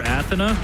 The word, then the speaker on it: Athena: see maybe athena yeah as dahang likes to call her athena that's the correct pronunciation you tried correcting him